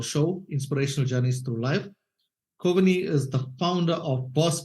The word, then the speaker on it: Kovini: talk with Nolan and I hope I am pronouncing your name correctly to start off with it's perfect kovani is perfect so thank you so much Nolan